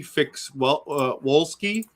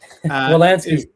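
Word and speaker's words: Wolanski: And if I say it right, Trey Wolski. Wolansky. What? Trey Wolansky.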